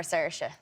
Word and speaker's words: Saoirse: What's the worst butchering of it you've ever heard? I mean, everything except for Saoirse. So I've never heard Saoirse once.